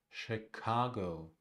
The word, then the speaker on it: Chicago: The first syllable is unstressed, the second is stressed. Chicago, Chicago, Chicago, Chicago.